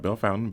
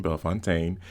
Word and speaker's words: Bellefontaine: Not Bell Fountain, Bell Fontaine, an annual theatrical experience